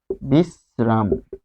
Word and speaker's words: বিশ্রাম: দেখুন এখানে আমরা যদি বিশ্লেষণ করি, বিশ্রাম এটি কি হবে, তো এখানে তালব্যস্য হসন্ত যোগ র রয়েছে, যেহেতু তালব্যস্য এর সাথে র বসেছে তাই উচ্চারণ হবে দন্তস্ব দিয়ে। তাহলে তালব্যস্য এর রিপ্লেসমেন্ট কে হবে, দন্তস্ব। যেহেতু রফলা বসছে, তার রফলা থাকার কারণে সে দন্তস্ব হবে।